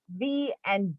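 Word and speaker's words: Vau: So Capricorn is U, V and W. It's Capricorn and that is pronounced as va. V A U. Va.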